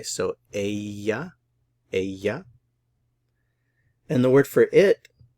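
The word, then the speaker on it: ella: word for she is the Double L is pronounced like a y so Aya and the word for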